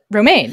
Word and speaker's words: Romijn: Romijn from Mission famous Romaine is that how you say it yeah that's how you say it I always not it's like the salad but not spelled like